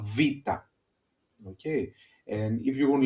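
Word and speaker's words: βήτα: makes is a okay then we have vita vita okay the sound is v v and we have the example vivo that is the book.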